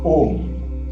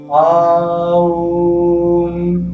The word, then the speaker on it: Om: So it is, you are not supposed to chant it as Aum. That is wrong. As per Sanskrit, that is wrong. So we are supposed to chant it as Om.